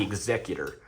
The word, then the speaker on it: Executor: We have a part of the unofficially part of the Starship series, which is the Executor. It's spelled the same, but it's the Executor.